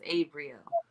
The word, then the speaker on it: Abrieel: It's just like Gabriel, but it's Abrieel.